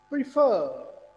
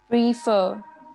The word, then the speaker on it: prefer: अच्छा, PREFER। प्रीफर। प्रीफर किसको stress किया? फर्स्ट को या सेकंड को? फर। सेकंड। सेकंड। जरा प्रोनाउंस करें। प्रीफर। यस, अगर हम फर्स्ट को स्ट्रेस करें फिर क्या बनेगा ये? प्रीफर।